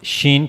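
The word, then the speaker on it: ش: When the middle of the tongue connects to the roof of the mouth, then we'll pronounce shen correctly.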